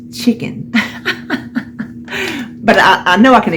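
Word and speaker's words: Chik'n: You see how it's spelled? C-H-I-K apostrophe N. It's chicken.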